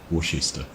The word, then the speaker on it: Worcester: Can't even pronounce it now. Worcester.